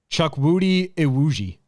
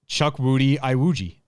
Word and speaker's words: Chukwudi Iwuji: Pronounce it. Try it. Chukwudi Iwuji. Oh my God. One more time. Chukwudi Iwuji.